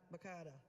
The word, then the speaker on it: Makada: Makada, sorry. Rhymes with Hakuna Matata.